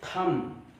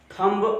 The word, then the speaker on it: thumb: यहां पर THUMB last में बी है और इस बी के तुरंत पहले एम आया है, यानी बी आपका साइलेंट है। हम इसे पढ़ेंगे थम, थम, थंब, नो नो नो नो, बा नहीं पढ़ना आपको, थम, थम मीन अंगूठा।